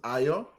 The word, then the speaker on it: Ayo: Again, my name is Ayo. It's pronounced as Ayo.